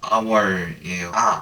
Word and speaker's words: hour: 발음이 모음일 때 여기 보면 hour이라고 나와 있죠. H인데요 선생님? 발음이 근데 뭐예요? hour이에요.